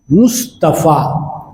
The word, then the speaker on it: مصطفیٰ: مصطفیٰ علماء کرام امت کے یوں بتایا کہ صحیح تلفظ ہے محمد مصطفیٰ.